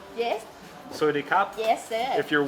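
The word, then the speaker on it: สวัสดีครับ: Soidi kap? Yes. Soidi kap?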